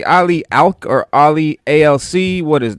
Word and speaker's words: Ali ALC: you can just but technically it's it's actually pronounced uh like like initials ali so that's what i go by but uh it's ali alc um that's basically who